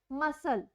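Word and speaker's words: muscle: example मसल, मसल में क्या है, स की साउंड आ रही है, क्योंकि सी की कोई साउंड नहीं आ रही, एस ही अपनी साउंड दे रहा है, तो सी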